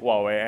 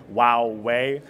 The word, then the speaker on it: Huawei: going to introduce the American consumer to the Huawei brand, and part of that is sort of teasing or telling people how to pronounce Huawei, and they have these ads out there that say Huawei, which I'm not sure is the best way